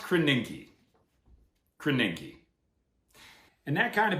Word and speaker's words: Krasinski: It's pronounced Krasinski.